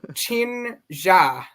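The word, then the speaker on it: Qin Xa: But I did do some research. It completely different language. Chin-ja.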